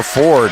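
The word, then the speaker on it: Forde: on a basket for Ford 40 excuse excuse me f o r d e you pronounce the e at the end 40 Sydney Roberts tried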